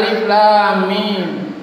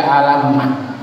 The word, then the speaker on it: alif lam mim: Untung dia biasa kita dengar alif lam mim. Coba kalau tidak pernah kita dengar lalu kita baca, boleh jadi kita baca alamat.